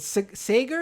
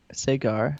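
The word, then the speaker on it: Saagar: Is it Sager? Is that how you say his name? I really don't really. I'm not familiar with him as much as I am with Crystal. Sagar.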